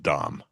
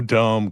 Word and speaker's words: DOM: Since you are the creator, it will be pronounced Dom. We definitely. No dome comments here.